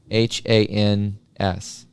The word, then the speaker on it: Sankt Hans: Sankt Hans, also known as Midsummer Eve, as it is known in Denmark, is often spent on the beach with a huge bonfire.